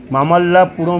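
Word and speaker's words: Mahabalipuram: স্থানের তালিকাভুক্ত করা হয়েছে এই স্থানকে বলা হয় মহাবলীপুরম স্থানীয় উচ্চারণ হিসেবে মামাল্লাপুরম হিসেবে বলা হয় দক্ষিণ ভারতের তামিলনাড়ু রাজ্যে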